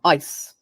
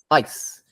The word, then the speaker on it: ice: by different consonant sounds but when you listen to how people actually say them eyes ice it's really The Vow that seems different in eyes it seems long in ice it seems faster compressed something like that so